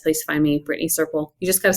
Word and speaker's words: Serpell: it and it's not circle with a c it's Circle rhymes with purple you know it's a